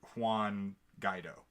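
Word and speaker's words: Guaidó: is the opposition leader Quan guy dough I believe is the correct pronunciation so it was Hugo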